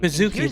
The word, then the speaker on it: Baszucki: Bazooki, that's how you say it, Bazooki.